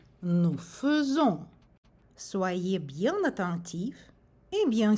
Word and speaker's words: faisons: Nous avons ici la combinaison des lettres AI, mais il faut prononcer faisons. AI dans ce mot a le son E. Nous faisons.